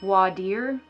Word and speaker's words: voir dire: submit what's called a voir dire wa dear i don't know it's another one of those legal terms that lawyers don't actually pronounce properly so voidir is a